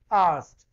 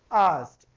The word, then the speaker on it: Arzt: This asked. This asked. Now, how we can pronounce it as? It is A-R-S-T. It is asked.